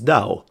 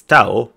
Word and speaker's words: Taoism: the pronunciation of taoism everyone seems to refer to him as tau taoism taoism taoism even though the us pronunciation of it is dao but i know in uk it's tao but they are not from uk they are from america so it should be dao but maybe i am